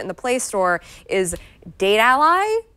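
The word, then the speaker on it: Datally: the Play Store is date Ally like it's spelled GA t al ly so we think it is pronounced a date ally and not data ly because like your ally for your data alright so I'm going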